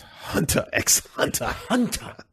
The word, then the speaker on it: Hunter x Hunter: hunter x hunter um I believe that's pronounced hunter x hunter yeah they do actually pronounce it exactly like that I am having a